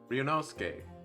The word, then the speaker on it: Ryunosuke: suki that was superb it's not suitcase whenever it's tsuki it's always sk so it's ryunosuke all right i mean